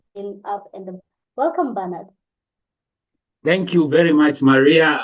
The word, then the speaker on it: Bernard: Kavyu, and he says his name is Bernard with an R. So through this show, you're going to be pronouncing it as Bernard with an R.